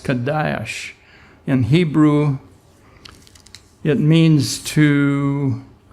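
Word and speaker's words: קדוש: H 69-42 it's spelled QA da H and pronounced Kadosh in Hebrew it means to a point it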